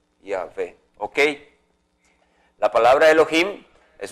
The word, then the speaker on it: Yahvé: Esto se pronuncia como la palabra Yahvé. Yahvé.